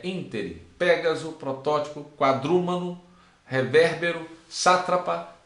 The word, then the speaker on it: ínterim: Interim, e não interim, é ínterim.